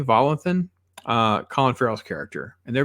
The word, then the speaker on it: Volanthen: Viggo Mortensen character, and John Volanthen, I think is how you say Volanthen, Colin Farrell's character.